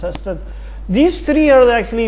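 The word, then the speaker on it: Sarstedt: Here, Ringelstad, these three names are actually, Sørsted actually, should be pronounced Sørsted.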